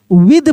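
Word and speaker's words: with: तो ऐसे भी बोल सकते हैं कि टी को हम लोग द के रूप में पढ़ते हैं।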